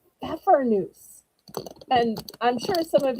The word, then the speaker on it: Pfeffernuss: They are called pfeffernuss. And I'm sure some of y'all are saying, wait, the P is silent?